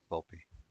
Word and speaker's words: Volpe: Yeah, Volpe.